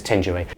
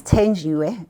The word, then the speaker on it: Thenjiwe: I have to try Thenjiwe because it's spelt with a TH. I would say th, but you say it's Thenjiwe. My name is Thenjiwe, which is easy, very easy.